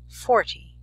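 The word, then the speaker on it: forty: 40 listen carefully 14 40 it's important to place the emphasis on the correct syllable next for spelling from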